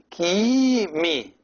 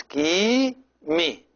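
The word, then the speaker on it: ⲕⲏⲙⲓ: And this word here, the top word, is Kimi. As you see this, it looks like the capital H in English. It is E, a long E. So it's Kimi. Kimi.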